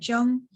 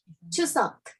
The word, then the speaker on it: Chuseok: Chung, how do you say it? Chung? Chuseok. Chuseok. Uh-huh.